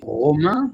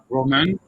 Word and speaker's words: Romain: So my name is actually Romain because I'm French, but you can pronounce it Roman, or you can pronounce it also Thai where Loma or Loma. Roma.